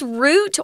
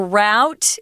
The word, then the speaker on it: route: expert Ice Climbers train we use root or route it's sometimes pronounced route if you're in the states so be aware of